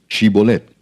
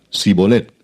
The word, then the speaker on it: Shibolet: Si él respondía: No, entonces le decían: Ahora pues di Shibolet. Y él decía Sibolet, porque no podía pronunciarlo correctamente. Entonces le echaban mano y le degollaban junto a los vados del Jordán.